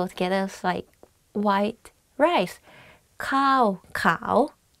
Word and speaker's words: ข้าวขาว: ข้ า ว ข า ว White rice. One is like higher than another. So ข้ า ว ข า ว means white rice.